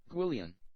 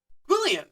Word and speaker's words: Gwyllion: How to pronounce guillian. Guillian. Guillian. Okay. Guillian. Okay.